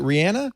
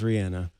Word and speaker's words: Rihanna: officially apologize to you is it Rihanna it is Rihanna see I thought I you know I've said Rihanna for years yeah she's from uh the